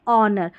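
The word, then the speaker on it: honour: यहां है आवर और इसको आर भी पढ़ सकते हैं। कोई इशू नहीं है। आवर यह है ऑनर। तो यहां पर एच को नहीं पढ़ रहे हैं।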